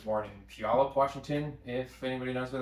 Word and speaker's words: Puyallup: the Pacific Northwest I was like born in Puyallup Washington if anybody knows where that is um and that's how you pronounce it uh and I've been a developer